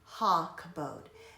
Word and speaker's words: Hakabodh: In this case, it says that it's rarely just a standalone kabod, so that's why it's pronounced Hakabodh, because it really wants us to understand that it means glorify, glorious, honor, splendor.